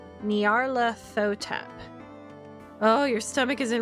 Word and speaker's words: Nyarlathotep: There's no official way to pronounce that name since it's a made-up nonsense word, but I prefer Nyarlathotep.